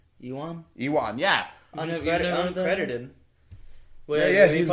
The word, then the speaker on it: Ewan: Let me see, Erwin. No, Ewan.